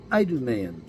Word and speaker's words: Idumean: He was an Edomian, or you might want to pronounce it Idumean.